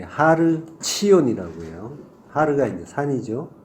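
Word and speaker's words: ציון: 시온산, 예, 하르 치온이라고 해요. 하르가 이제 산이죠. 예, 치온을 이제 우리식 발음으로 시온이라고 부르는 거죠.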